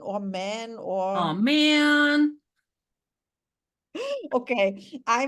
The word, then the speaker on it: Mann: Do you pronounce it Mann or man Oh or?